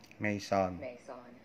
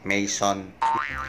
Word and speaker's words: Maison: Saglit, hanapin muna namin sa Google kung paano yung tamang pronunciation. Maison. Yun, so narinig nyo kung paano i-pronounce yun. Maison.